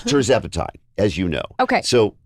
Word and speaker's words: tirzepatide: Say it how you say it. T-I-R. Tirzepatide. Tirzepatide.